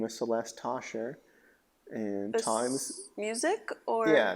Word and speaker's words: Tauchar: It's Tauchar. And I guess it could look like Talker. It's pronounced Tosher.